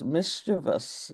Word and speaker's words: mischievous: But if you look at it on the screen, you'll see that it is spelled v o u s on the end, not v i o u s. So the word has three syllables. Mischievous, not mischievous.